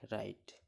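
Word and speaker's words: wrong: RITE right মানে লেখা। এখানে ডাব্লুর উচ্চারণ হচ্ছে না। সিমিলারলি ডাব্লু আর পাশাপাশি আছে, তাই RONG রং মানে ভুল।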